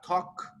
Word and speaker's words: talk: said uh like uh talk walk yeah you don't pronounce the l but in some other